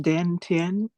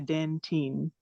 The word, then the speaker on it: Dan Tien: Is that pronounced Dan Tien? Dan Yes. Teen? Yes. Airbenders and the Dan Teen.